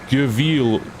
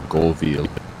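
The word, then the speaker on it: Göweil: limited knowledge of German, an O with the 2 dots above it, an umlaut, I think it's called. You pronounce it with a U sound. So I think it's Go, and then I don't know if it's weil or wheel or... It's veal, isn't it?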